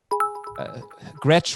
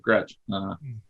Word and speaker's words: Gretch: another comment here gretch rhymes with catch somebody actually said that what is that all about yes that's ben gretch g-r-e-t-c-h anthony michelle do you think that rhymes with the word catch so you've got a